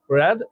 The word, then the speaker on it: read: এটা হচ্ছে উচ্চারণ হচ্ছে রিড, এটার উচ্চারণ হচ্ছে রিড, আর এটার উচ্চারণ হচ্ছে রেড।